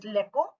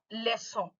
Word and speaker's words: leçon: So you are not supposed to pronounce it as leco, but leçon. Why? Because it has a exosaddle.